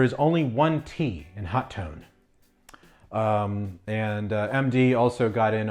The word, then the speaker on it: Hotone: tone website it does say how do I pronounce hot tone is it ho tone is it hot one or is it hot tone and it is pronounced hot tone so there you have it boys and girls